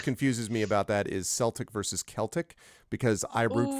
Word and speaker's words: Celtic: me that always confuses me about that is Celtic versus Celtic because I root for the Boston Celtics but the Irish pronunciation of course is Celtic so it's always